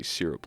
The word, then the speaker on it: syrup: It's syrup. Like s u r r u p not s y r u p. I don't say syrup like that. I say syrup cuz that's the correct way to say.